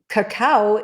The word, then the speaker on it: cacao: same thing well um cacao is the way people pronounce the bean that we make cocoa from see not a chocolate